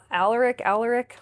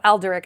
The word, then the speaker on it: Alderic: So she hasn't made any progress, and Alaric, I think is how you say it. She calls him Al. He hates it. Oh, Alderic. I knew I wasn't saying it right.